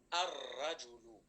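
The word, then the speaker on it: الرجل: The next one is ar-rajulu. Ar-rajulu. So ra is one of the sun letters.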